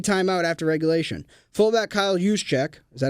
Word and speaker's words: Juszczyk: Fullback Kyle Juszczyk, is that how you pronounce it? Juszczyk, said he assumed the 49ers asked to receive